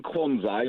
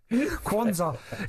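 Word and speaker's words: Quansah: For Gerard, go on, pronounce it properly. Kwanzaa.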